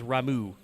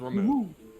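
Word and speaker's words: Ramuh: They do pronounce it in this game as Ramu. Oh, it is remove.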